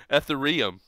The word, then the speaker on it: Ethereum: I put the accent in the wrong syllable. Etherium.